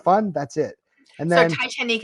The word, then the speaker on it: Titanique: that's it and so titanique is spelled TI i t a n i quu e Titan it's the the premise